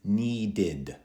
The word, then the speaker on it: needed: Hear the extra id at the end, and a d sound after.